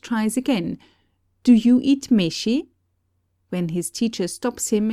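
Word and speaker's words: めし: In answer to his question, he is told that the rice on the table is called meshi. All vowels, it should be remarked, have the continental pronunciation.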